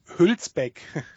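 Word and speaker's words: Hülsbeck: Hulpek.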